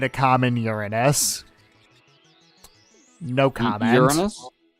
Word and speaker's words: Uranus: common Uranus no comments you're honest yes that that is how it's pronounced what are we a